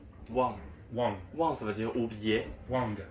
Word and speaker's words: 忘: Wang. Ça veut dire oublier. Wang. Et Wang avec un G. il ne faut pas prononcer que. En chinois, il n'y a pas de que. C'est pas Wang, Shanghai.